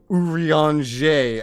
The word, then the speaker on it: Urianger: this and start saying urianger I'm going to tell you that right now there's no way I'm going to remember this like French pronunciation what are you g